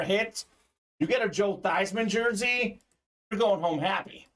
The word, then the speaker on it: Theismann: time, but growing up, his name was pronounced Theismann. When he was at Notre Dame, they were trying to campaign for him to get the Heisman Trophy, and he changed his name to be pronounced Theismann. It became Theismann for the Heisman, Mr.